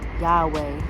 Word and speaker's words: Yahweh: And a little sidebar: have y'all ever seen the girl on TikTok talking about how Yahweh, like the LOL, the correct pronunciation is as if to breathe.